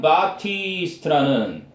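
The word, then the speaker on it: Baptiste: 자, 첫 문장 보니까 존 바티스트라는 존 바티스트 피가 묵음이에요.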